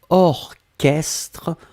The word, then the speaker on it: orchestre: existe il existe certes un mot qu'on écrit chat mais qu'on prononce que y'a pas beaucoup c'est vraiment une minorité mais ici c'est un exemple orchestre on l'écrit or chestres donc au rch str d'accord un autre exemple ce